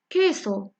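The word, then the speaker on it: queso: كو هذا مرايا كو فيلون بالفرنسيه في الاسبانيه كتنطق كو كو كمثال كيسو كيسو كيسو كيسو كيسو كتعني اللغه العربيه جبن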